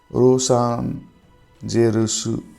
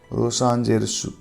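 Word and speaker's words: ロサンゼルス: Los Angeles becomes Rosan Jerusu. Rosan Jerusu.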